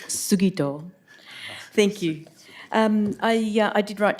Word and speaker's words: Sugito: We'll have a pronunciation lesson first up. It's Sugito.